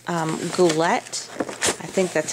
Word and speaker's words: Goulet: And so I bought it from a company called Goulet. I think that's how you pronounce it.